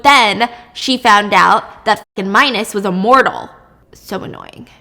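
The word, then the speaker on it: Minos: was marrying minus yeah I thought his name was pronounced MOS cuz that's how it's spelled but it's minus he was the king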